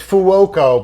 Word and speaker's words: Fuoco: It's Fuoco, but we say Fuko when we answer the phone because it's faster.